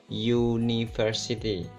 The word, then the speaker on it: university: kata University itu dibaca University jadi seperti diawali huruf y University Hai terus untuk